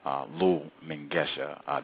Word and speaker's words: Lull Mengesha: Again, the only black student author, Lull Mengesha. Did I say it correctly? You got it.